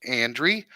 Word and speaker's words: Andre: her name is andrey spelt like Andre Andre the Giant but pronounced andrey mana April's in the